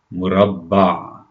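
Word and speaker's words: مربع: The ayn at the end of the word, in the word here, is square, murabba. See how there's the ah sound at the end?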